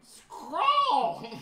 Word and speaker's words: Skrull: And Skrull! That's exactly how you pronounce that.